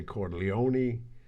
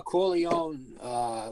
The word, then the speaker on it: Corleone: pronunciations what's your thought the uh corleone without the pronunciation of the e is the bachelor dives american version that's what i said